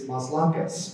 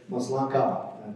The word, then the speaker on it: Maslanka: You might say it's Maslankas, but it's Maslanka. The S is silent.